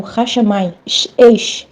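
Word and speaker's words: השמים: E os céus é feito de fogo e água, tanto que no hebraico, céus é pronunciado como Hashamayim, fogo, Maim, água, Hashamayim.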